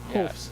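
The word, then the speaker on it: Hoefs: Hopes. Yeah, I was pronouncing it wrong. H O E Fs.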